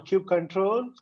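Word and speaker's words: kubectl: don't know why so so cube ctl or cube control you cuttle cuddle or whatever you know cube subtle or whatever they know you heard the names everyone has their own pronunciation so i'm not going to blame them but i usually call it as cube ctl easy you know the name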